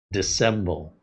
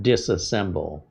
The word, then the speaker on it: dissemble: Dissemble. Not disassemble. Dissemble.